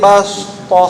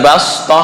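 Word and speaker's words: بسطة: Wazadakum fil khalqi bastah. Nah, kalau itu short. Ini sin. Dibaca dengan sin. Bastah. Bukan bastoh, kalau bastoh short. Ini sin ya.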